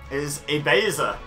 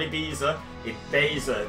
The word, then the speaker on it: Ibaser: everyone my name is ibaser that's how that's pronounced not Ibiza remember the middle syllable is beige just like I am let's